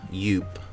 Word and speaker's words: Yoop: Yoop. Yoop that rhymes with soup.